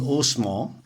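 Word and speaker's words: Haussmann: was only renewed by the urban planner valentin osman that's the french pronunciation of hausmann he must have been from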